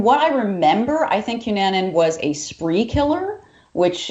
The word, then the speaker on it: Cunanan: I had a request actually, not to throw this right on you, but we had Andrew Phillip, and let me pronounce this. Cunanan.